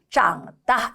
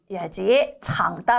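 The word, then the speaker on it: 长大: 'zhǎngdà' 라고 읽어야 합니다 . ' 창다 ' 라고 읽지 마세요 .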